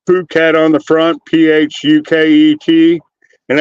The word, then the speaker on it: Phuket: And it just says Phuket on the front, Phuket, and everybody's just like, they start laughing and go, "We love that fucking hat," because they pronounce it "fuck it."